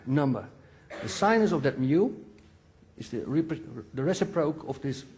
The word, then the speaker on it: mu: What's the proper English pronunciation? Mu.